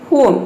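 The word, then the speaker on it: home: उसी तरह से यहाँ पे देखिए आवर, ऑनेस्ट, तो इन सभी में क्या है, एच साइलेंट है। लेकिन यहीं पे आप देखिए दूसरी तरफ है होम, इसमें भी देखिए एच के बाद ओ आया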